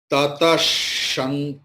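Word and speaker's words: ततश्: Tatash, Tatash, Tatash. The Tataha will be transformed into Tatash.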